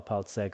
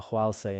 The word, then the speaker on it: Paltseg: Later on, translators like Kawa Paltseg, also pronounced Kawa Hwalse in Amdo, translated it into Tibetan.